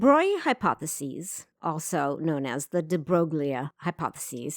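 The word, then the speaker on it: de Broglie: also known as the de broglia hypothesis it's French so it's pronounced de Bry the de Bry hypothesis introduced the concept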